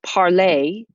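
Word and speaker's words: parler: the same sound too parlay with er to speak has this sounds exactly the same as parlay ez which is from the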